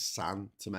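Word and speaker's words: São Tomé: I think it's San Tome because I think because of the cedilla on the A, you pronounce it as like sort of nose.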